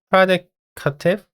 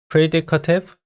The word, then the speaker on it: predicative: The term predicative, 이거 발음 어떻게 해야 하는지 약간 좀 헷갈리는데 predicative, predicative 둘 중 하나거든요. 잠깐만요. 제가 조금 헷갈리는데 그 영국식 영어에서는 predicative라고 발음할 수 있고 미국식으로는 predicative라고 발음할 수 있네요. 둘 다 가능합니다.